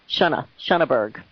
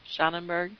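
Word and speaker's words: Schönberg: How do you pronounce it? Shunnaberg. Shannonberg? Shunna. No, there's not an extra N in there. Shunnaberg.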